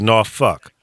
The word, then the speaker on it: Norfolk: No, it's actually Norfolk, but it's well, the world's largest naval base.